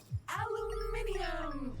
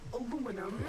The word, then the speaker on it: aluminium: Aluminium or aluminum as Americans pronounce it incorrectly.